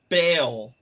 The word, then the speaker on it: Bale: Oh, it's Bale, not Bala.